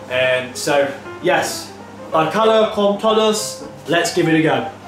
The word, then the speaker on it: Bacalhau com todos: So, today's dish is pronounced Bacalhau con todos.